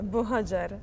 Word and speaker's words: Buhagiar: like to know if I pronounce well your name. For me, it's Buhagiar. Yeah, Buhagiar. Buhagiar. Buhagiar. Then it's correct.